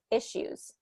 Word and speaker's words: issues: issues we want to instead of issues e with that e keep it with a short i issues issues issues okay so